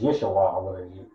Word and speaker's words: Yeshua: was maybe not no it's yeshuah it sounds like Joshua almost it's yeshuah but okay if you